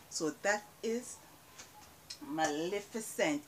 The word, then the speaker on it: Maleficent: Maleficent. Some persons pronounce this Maleficent, but it's not Maleficent.